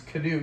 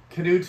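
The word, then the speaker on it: Cnut: letters in there uh his name is Cano as far as I know how to pronounce it but Cano the great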